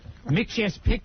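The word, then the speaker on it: Mxyzptlk: pixlick isn't I think the way they pronounce it at least on that cartoon was make sure Pig lick really yeah you played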